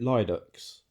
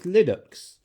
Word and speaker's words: Linux: Or as I used to call it Lyden X. I always used to say it like that cuz that's how I pronounced Yeah. Yeah. But apparently it's Linux.